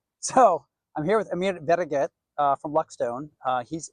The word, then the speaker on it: Vereget: yep really seriously how if you were to say better get better okay see I can do I can I got a Vasquez right so I'm here with Amir better get uh from Luxstone uh